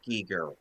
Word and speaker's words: Giger: pronounced Giger.